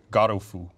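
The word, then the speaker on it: ゴルフ: I love the Japanese pronunciation is Garofu.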